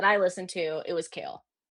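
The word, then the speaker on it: Chaol: Dorian for sure Ailen cow. Is it Cole or Cow? I don't know. It's It's Kale.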